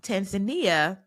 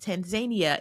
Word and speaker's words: Tanzania: our first conversation I asked oh it's not pronounced Tanzania you said no it's pronounced Tanzania and can you please explain to everyone why